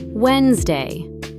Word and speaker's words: Wednesday: Spelled with a D in the middle, you never say. Pronounced Wednesday.